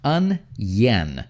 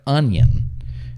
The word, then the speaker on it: onion: the word is pronounced un yen it's kind of like yen like the japanese yen right in japan they